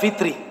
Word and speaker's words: fitri: mewajibkan zakat fitri atau zakat fitrah yang bener itu zakat Fitri ya makanya hari rayanya Idul Fitri ya zakatnya zakat Fitri bukan zakat fitrah sebenarnya Tapi karena ini